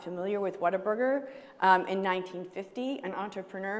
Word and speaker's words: Whataburger: people bit into it, they would say, "What a burger." So that's how you say it and that's where the name came from.